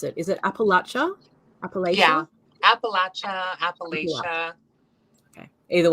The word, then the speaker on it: Appalachia: of, and you can tell me how to pronounce it. Is it Appalachia?